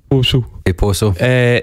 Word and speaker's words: Possil: Do you know how we say it in Glasgow? How do you say it? Possil Poso.